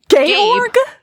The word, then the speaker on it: Georg: Georg? What kind of monster romance are you reading? Georg is like the German version of George.